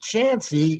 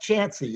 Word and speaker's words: Chauncey: Why is it pronounced Chancey if it's spelled Chauncey? Is it pronounced Chancey? Yeah, it is. It's pronounced Chancey.